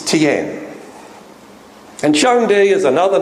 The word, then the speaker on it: Tian: It's not Tian. That's how the Australians would say it. It's Tien.